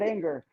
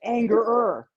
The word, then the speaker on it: Angerer: Pat Anger's uh mom and dad were walking up the steps, met Gary and says, "Hey, it's Angerer, not Anger."